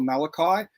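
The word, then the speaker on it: Mulcahy: much like it before directed by australian director russell malachi there you go i've been saying it wrong my whole life but um it's the same name as you have from mash the priest yeah okay um and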